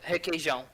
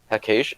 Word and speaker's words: Requeijão: Requeijão. Hakesh? Wait, the R is pronounced like an H?